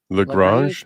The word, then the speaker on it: Lagrange: Lagrange. Lagrange? So Lagrange, yeah, that'd be a French name.